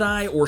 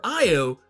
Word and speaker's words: Io: juggling the idea, should I or shouldn't I? And ultimately, by the end, while she's hanging out with her lover, Io, or Io, both pronunciations apparently are perfectly okay and legal, she realizes that maybe